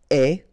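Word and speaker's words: aie: and avoir will become est, remember the final E is not pronounced, so you only have this AI sound, est, okay, est, ayons, ayez, okay, est, ayons, ayez.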